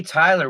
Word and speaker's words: Tiler: I go, it's Tyler with an I. And they go, isn't that pronounced Jai?